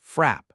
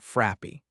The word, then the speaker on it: frap: Koko asks what a frap is, and Casey laughs and says it's a milkshake, and it's pronounced frap, not frappy.